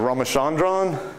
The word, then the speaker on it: Ramachandran: that they're around and the ram chandran plot is that how you would pronounce it anybody want to correct me R Rand that sounds better than what I said I said it very American so ramachandran plot shows